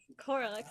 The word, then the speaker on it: Corlyx: Corlyx, that's right.